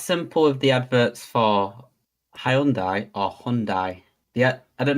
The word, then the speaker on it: Hyundai: There's a load of adverts in the UK, like Adam is saying, they've just started saying it's called Hyundai, which is how you're supposed to pronounce it.